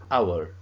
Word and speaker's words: hour: Is that the H sound is not pronounced. It's a silent H.